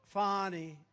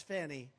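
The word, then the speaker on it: Fani: right has anybody fonnie it's pronounced fny F ni I that's Fanny but she likes it fny when she became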